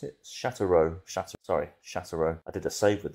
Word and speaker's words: Sochaux: We've got Is that how you pronounce it? Sochaux. I did a save with them last on FM23. You think I would know the name? Yeah, Sochaux.